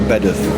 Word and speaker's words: Bedworth: Pronounced Bedworth, actually.